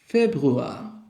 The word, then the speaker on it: Februar: এটাকে ডয়েচে বলে ফেব্রুয়া।